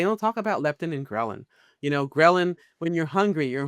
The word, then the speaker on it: ghrelin: Well, they don't talk about leptin and ghrelin. Ghrelin, when you're hungry, your hunger signals, right? Ghrelin sounds like the word growling.